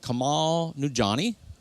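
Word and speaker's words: Kumail Nanjiani: But I watched one the other night on Hulu, and Kamal Nujani.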